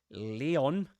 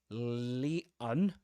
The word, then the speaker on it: Leon: Leon, Leon with a schwa at the end. Or in American English, usually Leon. So the three pronunciations have in common that the first syllable is Lee with a long E.